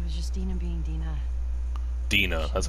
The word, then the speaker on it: Dina: Dina, that's how you pronounce it.